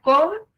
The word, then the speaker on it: cómpramelo: Si yo la divido en sílabas, queda cómpramelo. Ahora identifico la sílaba tónica. Cómpramelo. Es ¿sale?